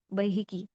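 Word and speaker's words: بيهقي: सबसे पहले है इमाम बैहकी। अगर आप चाहें तो अपनी किताब पे इसके अराब भी लगा सकते हैं कि इसको प्रोनाउंस कैसे करेंगे। बहकी इसको कहा जाता है।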